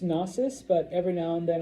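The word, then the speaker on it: Knossos: Um, it's pronounced NSUS, but every now and then I'll say konosus, but those silent K's in Greek always, you know, I don't like them, but they're there.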